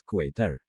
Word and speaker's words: Quater: Din 54 327, says Quater. Quater. It's like an equator.